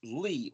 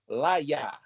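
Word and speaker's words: לי: So LAMED-YOD would be pronounced Li or Laya. If you give the A sound to Lamed and the Y-A sound to Yod, to be Laya, or just Lee, like somebody's name, Lee, like Robert E.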